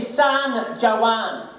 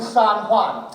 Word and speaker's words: San Juan: We went to San Juan. You mean San Juan? I'm so sorry, my China's not as well travelled as I am. It's the J is silent, it's H.